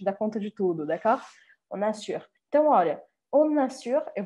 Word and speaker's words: on assure: vocês prestem atenção que eu faço o que eu chamo sempre de liaison, ou seja, que eu grudo a primeira palavra, on, né? O som dessa primeira palavrinha seria on, sem eu marcar o N. Mas como a próxima começa com A, o que eu faço é que eu grudo isso aqui, pronunciando o N aqui, nesse caso. Então, on assure.